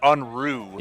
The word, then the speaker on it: Unru: pronounce Josh's last name it's unru like unruly yes yes that's what